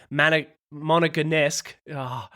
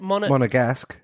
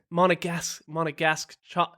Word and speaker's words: Monegasque: session that saw homegrown Moneganesque, Ev, help me there. How do you say it? Monegasque. Monegasque.